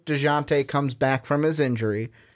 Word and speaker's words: Dejounte: DeJounte.